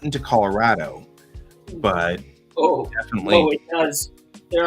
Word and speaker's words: Colorado: will pronounce the state Colorado all right with that tall a but that's not the way coloradans pronounce it we pronounce it Colorado with that flat a and that's the way